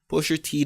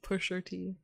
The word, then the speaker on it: Pusha T: with Drake's baby mother, claiming to had given Pusha T the information. Why'd you say it like Steve Harvey? Pusher T.